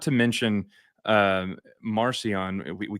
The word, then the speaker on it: Marcion: Mhm, Not to mention Marcion, we call him that now, but his name back then was actually pronounced Markion with the hard yeah.